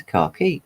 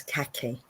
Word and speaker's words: khaki: key I think fast I say car key but it is I think Americans pronounce it as khaki like that almost like they've got something stuck in their folks okay yeah the Eco